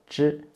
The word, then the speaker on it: zhi: To make it zhi sound, you need to roll up the tip of your tongue against the hard palate, and then loosen it to let the air come out.